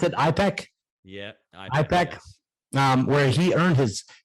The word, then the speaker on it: IPEC: You pronounced it IPEC? Yeah. IPEC, yes.